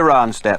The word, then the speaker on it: Ronstadt: I think the D is silent, right? I believe Is so. that right, Linda? Linda Ronstadt.